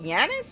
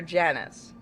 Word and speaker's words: Janus: Wouldn't it be, is it Janus or Janus? Either.